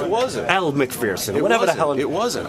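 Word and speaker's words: Elle Macpherson: The whole time, I didn't know it was over Ellie McPherson. It wasn't. Elle McPherson.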